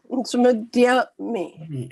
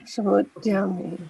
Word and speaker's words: samudyame: Not they, me, there. Samudyame. Right? Because this is A, this is E. They have to pronounce it. Yes, samudyame.